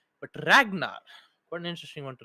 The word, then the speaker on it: Ragnar: to remind myself that it's not Ranger that's because the GNN are kind of you know interchangeable because Ranger Ragnar even though the pronunciations are entirely different you'd be surprised how